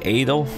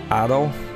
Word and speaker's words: Adol: the the first playthrough i keep saying edo but i think it's pronounced addo i hope that you